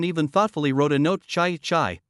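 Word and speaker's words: 豺: Chai, pronounced in the second tone, is a kind of wild beast.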